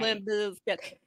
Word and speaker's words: Limp Bizkit: Limp Bizkit.